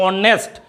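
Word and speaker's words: honest: जैसे इसको बोलते हैं ऑनेस्ट, तो ये मेरा कॉन्सोनेंट है, लेकिन ये जो ओ है वो मेरा स्वर वर्ण है, इसलिए यहां पर क्या हो गया, एन का प्रयोग हो गया, ए का प्रयोग नहीं हुआ।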